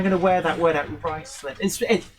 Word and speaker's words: Ruislip: Ruislip. It's spelled Ruislip.